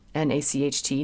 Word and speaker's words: Nacht: You don't want to say, like if you're singing Nacht, N-A-C-H-T, night, you don't want to have it be a hard C sound. It's more like Nacht.